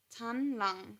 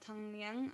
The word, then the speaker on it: Tanlang: Mom have I been I've been saying his name wrong this entire time why am I only now realizing tan lung that is his name it's not Tang Liang I don't know where